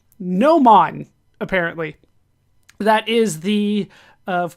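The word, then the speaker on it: gnomon: to pronounce things uh GN Mo n no man Apparently that is the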